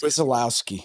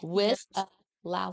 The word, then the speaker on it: Wisialowski: I asked her, I said, how do you pronounce your last name? And she told me, I'm like, that's how I was. Wisialowski. Wisialowski.